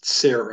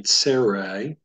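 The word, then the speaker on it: צֵירֵי: Name is tsere. You can try repeating after me, tsere. And the TS is like at the end of the English word nuts.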